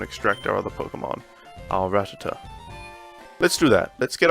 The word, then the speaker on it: Rattata: Our Rattata. Let's do that. Let's get our Rattata out. Rattata. Not Rattatur. There's no R on the end of Rattata.